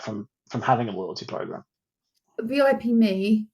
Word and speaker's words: VIP Me: You mentioned VIP Me. I never know if it's VIP Me or VIP.me because it's spelled VIP.me. It's VIP Me, if I remember rightly.